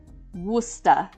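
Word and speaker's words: Worcester: And then uh So you'd think Worchester, but no, it's pronounced Wora.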